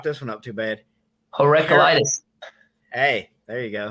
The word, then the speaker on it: Heraclitus: Heraclitus. Heraclitus.